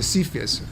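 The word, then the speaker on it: CFIUS: in the United States it's called the CIS it Rhymes well with the word uh syphilis um the concept is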